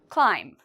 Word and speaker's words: climb: Climb. Is there something in here we don't pronounce? Climb. If you said B, we do not pronounce the B, you are correct.